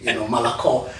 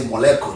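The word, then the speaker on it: молоко: Malako, I would say moleko, that's what I was saying, But I remember when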